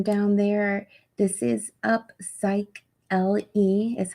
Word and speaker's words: Upsychelly: do see the name down there this is up psych l e is how you pronounce it and it sounds like a cycling